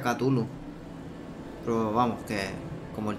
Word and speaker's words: Cthulhu: Sí, creo que se pronuncia Cthulhu.